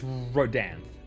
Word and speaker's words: Rodanth: Okay, so it is Rodanth. I was not 100% sure because this game likes using like almost like a hybrid of Old English, and everyone knows how easy Old English is to pronounce.